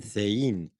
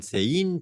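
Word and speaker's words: Cehegín: We're at our first stop here in Thein. The pronunciation is a bit tricky. In Castilian Spanish, the C before an E is pronounced th, like in thin, and the G like an H, as in hello.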